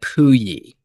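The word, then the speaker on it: Pouilly: it's called Apolon at Pui. So it's Pui is the name of the little town there next to CERN and it's spelled P O U I L L Y just just in case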